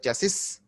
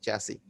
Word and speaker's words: chassis: It just spells like chassis, but the actual pronunciation is chassis.